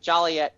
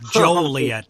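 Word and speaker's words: Joliet: you go to juliet don't pronounce it jolly yet because it's a five dollar fine it's joel yet not jolly yet and by the way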